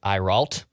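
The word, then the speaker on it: Ayrault: agent that represents JJ uh Brian is it iral I forgot I KN not how to pronounce this guy's last name a a y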